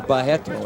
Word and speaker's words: Barreto: kids attempts there by carlos barreto or bajeto as they pronounce it in brazil carlos circling carlone circled